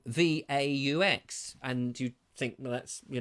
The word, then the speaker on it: Vaux: he says no it's Vaux it's Vaux it rhymes with knives and forks and it's great because